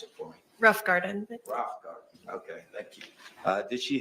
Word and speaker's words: Rothengarten: Pronounce it for me. Rough Garden. Rothengarten.